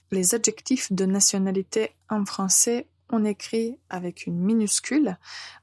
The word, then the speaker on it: français: Bien sûr, comme on parle français, la première nationalité dont on parle, c'est la nationalité française. Donc, le pays, c'est la France. Au masculin, nous allons prononcer français, français.